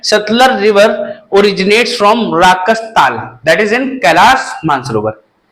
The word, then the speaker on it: राकस ताल: लोग प्रोनाउंसिएशन की वजह से इसको क्या पढ़ रहे हैं? राकस ताल। Earlier it was known as राक्षस ताल, अब प्रोनाउंसिएशन लोगों का अच्छा हो नहीं पाया, that's why it is known as राकस ताल।